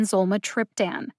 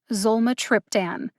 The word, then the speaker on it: zolmitriptan: any other syllable in zulma triptan the syllable with the secondary emphasis zol gets almost as much emphasis as tripp zolma triptan can you hear the syllables as they're being emphasized zulma triptan how do i know